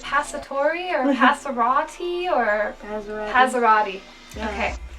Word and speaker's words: Passerotti: My parents, like the Italian part of it it was like several generations back, so my parents didn't even pronounce it in an Italian way at all.